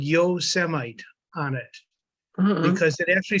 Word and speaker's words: Yosemite: a construction site and this guy saw him yo semi because a certain past president I didn't know how to didn't know how to pronounce Yosemite so yeah a cultural experience there in New